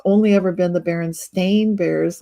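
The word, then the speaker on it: Berenstain: only ever been the baron stain bears like they ate too many blackberries and their paws got stained with berry juice very funny and and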